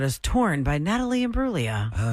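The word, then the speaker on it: Imbruglia: Natalie and Bruia. Yeah. No, the G is silent.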